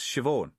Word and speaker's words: Siobhan: Right you are, said it's pronounced Siobhan.